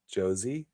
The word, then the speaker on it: Josie: It's like Rosie with a J. Josie. A J. Is it Josie?